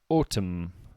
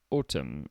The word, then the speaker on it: autumn: o u b t that's right the B is silent and the last one for now autumn autumn a u t u m n now why